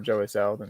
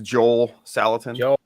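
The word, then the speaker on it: Joel Salatin: not one of these did I say his name right this time I feel like I always get it would you who'd you say again Joey Saladin he said well his name's Joel salitan but um he does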